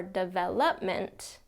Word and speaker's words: development: it's not development or development it's development second syllable stress fractured fractured first syllable